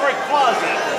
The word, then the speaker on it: Rayquaza: It's Rayquaza. Rayquaza. we'll find out in a minute. Named after a Quasar star. Play it again, play it again. Franchise. Rayquaza.